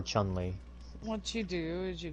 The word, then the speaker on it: Chun-Li: I've heard Chong-Li, Chung-Li, Chung-Li. I just call her Chun-Li.